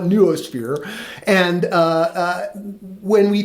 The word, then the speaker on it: noosphere: There's ways to pronounce that but I call it neuosphere.